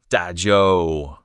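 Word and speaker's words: 打折: The ZH sound is tricky. Curl your tongue, tip up slightly. It's close to the English J, but produced further back in the mouth. Try saying the English word yer first, then curl your tongue tip back just a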